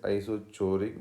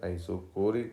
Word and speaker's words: isochoric: isocoric process isocoric process generally somebody read this is isochoric but it is not isochoric this is we have to pronounce as a isocoric process volume is constant here